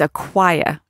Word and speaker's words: Aquia Creek: We talked about Aquia Creek. I hope I said it right this time. Nope, it's Aquia. There it is.